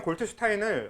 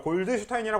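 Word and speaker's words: Goldstein: 그 가장 다른게마다 발견 골트 슈타인은 언급을 하는 학교가 있고 아닌 학교들이 있고 그래요음 그걸 골드 슈타인이 하기도 한는데 골드슈타인 잘못된 겁니다 그 그 사람 미국 사람이 아니라서 골트 고고 발음해야 되는게 맞아요 그래서 아무튼 골트 슈타인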